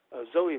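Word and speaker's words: Sowei: And then there's the other ones that are interesting are the Zoe mask. It's spelled Zoe, S-O-W-I-E.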